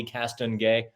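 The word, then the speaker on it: Castonguay: you know she anyway you got to put on some French when you say her name properly cast on gay yeah you do a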